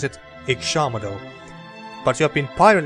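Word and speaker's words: Ixamitl: And a gift-bearer in Ishamadal. Ishamadal, so that's how you pronounce it. Ishamadal.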